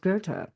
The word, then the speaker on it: Goethe: So his name is spelled Goethe. So you wouldn't be like, oh yeah, obviously that's pronounced Goethe. But in the German, it's very German.